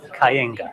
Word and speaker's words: Kayenga: So is it, how would you pronounce it? Kenga? Kayenga. Kayenga. Yeah. Close? Perfect, yeah.